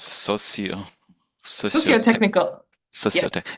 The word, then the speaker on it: socio-technical: So this word that is difficult to pronounce, socio-tech, Socio-technical. Yeah. socio-tech. It's socio, not social, social Well, technical.